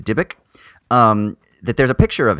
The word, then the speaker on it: Dybbuk: a picture of the, how do you say it? Dybbuk? The Dybbuk? Yeah. The Dybbuk.